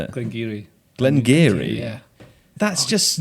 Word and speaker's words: Glengarioch: Founded in 1797, the popular Glengarioch. No! How do I say it? Glengarry.